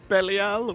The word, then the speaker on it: Belial: Belial, which is actually how you're meant to pronounce it, I found out recently.